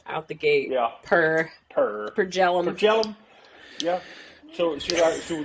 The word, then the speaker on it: Per Jellum: So my name, my name is Per Jellum.